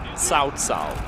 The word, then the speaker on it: Cao Cao: Yeah, it's pronounced Cao Cao. Cao Cao. Like it's like a TS.